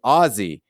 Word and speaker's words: Aussie: score four of ten phonetically this is Ozzy takes solace in the fact that literally every other American also gets this wrong on the movie itself